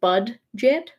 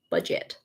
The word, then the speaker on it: budget: it but a anyways it has the letter d in it but you don't really pronounce it it's not like bud jet it's just budget so